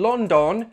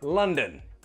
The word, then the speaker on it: London: I'm not in London, no. The first syllable is stressed, the second syllable is weak and has that schwa sound, London.